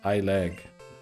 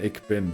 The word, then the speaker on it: ich bin: So you just said I leg. I think you were trying to say ich bin, right?